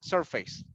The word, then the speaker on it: surface: be constructed areas and the word surface is better is that goes in the first syllable surface in the surface surface and uh let